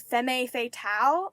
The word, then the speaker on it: femme fatale: I don't think I'm saying this right. Femme fatale, I think that's how you say it. It's femme fatale.